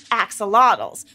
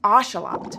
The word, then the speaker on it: axolotl: you saw an oselot some people call them Axel but it's actually pronounced oselot oselot are a special type of aquatic salamander